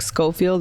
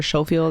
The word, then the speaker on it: Schofield: Oh, Brooke Schofield or Schofield. I do realize I was saying it wrong.